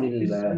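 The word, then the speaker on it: بسم الله: এইটা যখন আলিফটা, এই আলিফটা যখন মাঝখানে হবে, এটা পড়া হবে না। ইয়েস স্যার, বলছেন স্যার। তাহলে এখন কি হলো বলেন তো উচ্চারণ? বিসমিল্লাহ। বিসমিল্লাহ। বিসমিল্লাহ।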